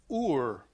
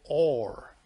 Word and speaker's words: Ur: abraham came from the city of ur better said or because when you read that in the bible in hebrew you find the letter alef fab resh that makes the word which means light correspondence of or so when you read